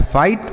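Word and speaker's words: fight: और GHT अगर कहीं पर भी लिखा रहे तो उसे हम केवल टॉ पढ़ते हैं। क्या पढ़ते हैं? टॉ। तो यह लिखा गया है फाइट, मतलब होता है लड़ना।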